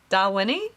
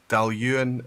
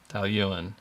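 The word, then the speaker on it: Dailuaine: just saying you just got two syllables darling is this I think it's darwini delwini is a different Distillery this difference how is that Dow Ewing I doubt or something but dalyun is the book it's the brand value and it's a Diagon Distillery they make gorgeous liquid Dalian okay all right we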